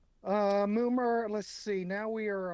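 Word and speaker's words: Mummer: Uh, Moomer. Let's see. Now we are on Oh, is that how you say it? It's pronounced moomer.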